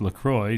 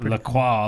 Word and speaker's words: LaCroix: Officially, it's pronounced LaCroix, so it rhymes with enjoy. Not LaCroix, like it would be in the French.